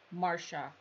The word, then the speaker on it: Marcia: It was the C-shaped floral you showed in the beginning, pronounced Marsha.